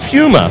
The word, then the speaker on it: Puma: It is pronounced Puma.